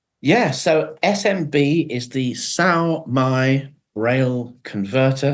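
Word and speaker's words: Sao Mai: Yeah, so SMB is the SAO-MI Braille converter. SAO-MI is spelt SAOMAI, and it's a fully functioned Braille translation program.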